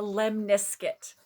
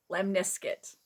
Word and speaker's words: lemniscate: are talking about the lemniskit i looked it up lemniskit rhymes with biscuit the lemniscut and taro